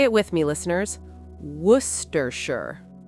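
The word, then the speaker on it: Worcestershire: In English, especially with place names from England, we don't always pronounce every letter.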